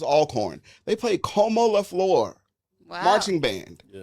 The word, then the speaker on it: Alcorn: They did at the with um I think they were playing Alcorn or is it Alorn? I I never know how to say it. It was Alcorn.